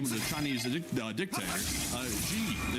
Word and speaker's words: Xi: Xi is pronounced like she.